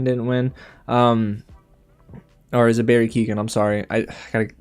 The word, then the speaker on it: Keoghan: Or is it Barry Keoghan? I'm sorry. I gotta pronounce that properly.